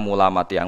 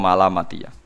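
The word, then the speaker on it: ملامتية: Ada sebuah jalan bernama Mulamatiyah yang pernah disebutkan dalam Manaqib, ya, Mulamatiyah. Sebagian orang membacanya sebagai Malamatiyah.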